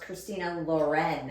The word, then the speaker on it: Christina Lauren: Okay, no, because I started reading them 15 years ago, and I thought it was one person, and it was pronounced Christina Lauren. Yeah, like Ralph Lauren.